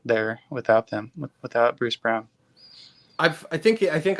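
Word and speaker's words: Braun: pronounced Brown like it's spelled wrong but it's pronounced Brown so just like like seeing those players and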